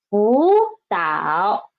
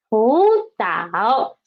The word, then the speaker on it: 辅导: So when they're together, we should change the first one into second tone, right? So it becomes 辅导. Read after me, please. 辅导, 辅导.